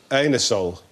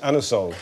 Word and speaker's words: Anusol: herel his name 1781 you can't ask for um anusol in that way in in a shop you have to pronounce it anol it's a slightly embarrassing